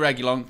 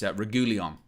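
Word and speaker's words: Reguilón: Big up to Sergio Reguilon for doing a fan view of United View after the game.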